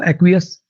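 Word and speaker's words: acquiesce: एक्वियस, एक्वियस इसकी जो pronunciation है वो एक्वियस, एक्वियस।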